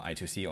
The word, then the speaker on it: I2C: about today and then we have the uh I2C or I square C depends how you pronounce it is developed by Philips.